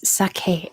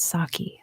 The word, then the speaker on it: sake: gets to the window it is sake s-a-k-e sake but in American English we pronounce it saki so everyone knows what you mean number six in what